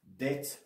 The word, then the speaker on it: debt: We've got debt, which you spell like this, but you do not pronounce the D. Well, B, sorry, B.